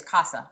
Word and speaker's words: CASA: In Spanish is CASA. Okay, it's CASA.